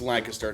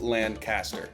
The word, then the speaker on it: Lancaster: home city of Lancaster and yes it is pronounced Lancaster not Lancaster remember when I mentioned those German and Dutch